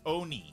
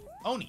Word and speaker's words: oni: uh says p s my name is pronounced oni oni yeah yeah uh uh